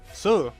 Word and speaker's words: Sue: Yeah, I know about I know she's an artificial sooie, but the name is Sue. Don't forget it again. Sue, it's not pronounced C.